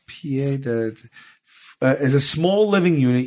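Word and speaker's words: pied-à-terre: Pied à terre, pronounced pied à terre, is a small living unit usually located in a large city some distance away from the individual's primary residence.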